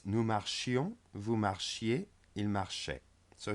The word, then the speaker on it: marchions: So in the imperfect it's important to pronounce the I. Nous marchions, vous marchiez.